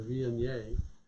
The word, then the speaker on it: Viognier: So it's a little village people YMCA-ish, but it's the Viognier.